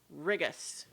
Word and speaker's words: Rigus: Well, it is Rigus. It's just a question of Yes. this pronunciation.